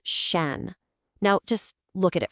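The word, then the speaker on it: 山: It's pronounced shan.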